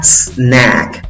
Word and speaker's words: snack: Snack, snack, snack. No le agregues una E antes, por favor.